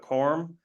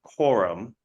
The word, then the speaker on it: quorum: apparently pronounce km wrong I say corm like a kind of like corn but corm and I recognize that it's correctly pronounced Quorum but for whatever reason